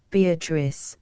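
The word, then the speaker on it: Beatrice: oft will tell note beatric I use this word as it is pronounced in the Italian as consisting of four syllables of which the third is a long one she then was silent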